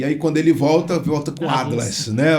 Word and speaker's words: Adlas: E se a pronúncia é a mesma, Adlas, né? Porque pode-se falar Adelas, né?